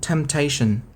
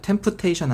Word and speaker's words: temptation: Temptation. P는 묵음이야. Tempation 아닙니다. Temptation.